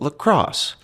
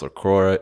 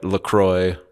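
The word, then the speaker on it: LaCroix: you don't know is actually you're supposed to pronounce It Lacrosse because it's from Lacrosse Wisconsin and they're like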